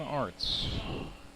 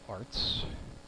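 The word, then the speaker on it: Arzt: is on for John Arts. 1 for 3 as he walks up with some Turnpike Troubadours music in the background. 4 for 15 in 2023's Arts. Spelled A-R-Z-T, but pronounced like arts and crafts.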